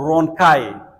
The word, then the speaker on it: rhonchi: और इसके उच्चारण "rhonchi" और "ronkai" दोनों हैं। आप "rhonchi" कह सकते हैं और आप "ronkai" कह सकते हैं।